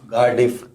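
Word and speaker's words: Cardiff: ਕਾਰਡਿਫ कार्डिफ कार्डिफ कार्डिफ are silent है इसमें silent.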